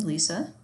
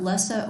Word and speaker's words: Lesa: So your instructor is me, Lisa. It's not Lessa or Lisa, by the way. Those are common other choices for my name, but it's just regular Lisa, just spelled phonetically.